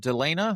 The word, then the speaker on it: Delena: Robert Delena.